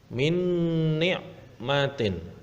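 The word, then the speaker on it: مِنْ نِعْمَةٍ: Nah, yang ketiga adalah min ni'matin. Nah, ada nun sukun bertemu dengan huruf nun. Nah, maka harus masuk dengan dengung.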